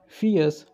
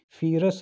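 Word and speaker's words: fierce: फियर्स यहाँ पे जो है आर थोड़ा साइलेंट, आर यहाँ पे साइलेंट रहेगा, तो इसको हम फियरस नहीं बोलेंगे, तो बोलेंगे फियर्स फाइटिंग, मतलब बहुत ही उग्र भयानक जो लड़ाई हुई, घटित हुई।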